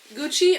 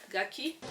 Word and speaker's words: Gucci: ridiculous pieces like this it's from gucci or gucky it the reservation's probably under gucci it's it's spelled like gucky which can be confusing okay it's a hat